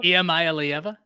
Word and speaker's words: Iamaleava: because I'm Nicholas just Iamaleava? Iamaleava? Say that again, Ty. Say it again. How'd that go? Iamaleava? Yes, that's it.